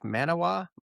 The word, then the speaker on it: Manawa: And you know, out here in you know, out here is actually Lake Lake Manawa, I think is how they pronounce it.